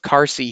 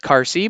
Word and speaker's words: Qarsi: saying QU, but nope, there is no U after that Q. So I'm assuming it's pronounced similar to a K and it's pronounced Qarsi, but I could be wrong.